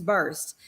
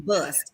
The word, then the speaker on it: burst: Now, TeKenya, I know you about the bus, as we say in the South, not burst. The proper pronunciation is burst. But in the South, we about to bust, okay?